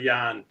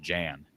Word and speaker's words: Jan: It's actually Yan. Good Iowa name. Whoa, whoa, whoa. Hold on a second. Your name is pronounced Yan.